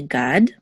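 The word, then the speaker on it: גָּד: on okay so this is a Gamel um with a commuts and the dollar together was a god um and then this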